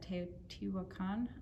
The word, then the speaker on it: Teotihuacan: i had a tour of the pyramids at teotihuacan that's how it's pronounced and our guy took us down into